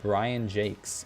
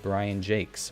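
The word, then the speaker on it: Brian Jacques: look it up and he does pronounce it Brian Jake's which is very interesting he writes or wrote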